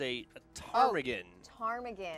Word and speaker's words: ptarmigan: and that is pronounced the P is silent it is a target arm again which is a it's